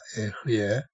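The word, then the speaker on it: אהיה: 에흐예, 아세르, 에흐예 이렇게 에흐예라고 하는 스펠링이 똑같은 단어가 여기에 2번 나오고요.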